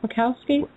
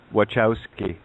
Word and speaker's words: Wachowski: and youtube lana workout how do you say that mikowski wachowski w-a-c-h-o-w-s-k-i yeah just type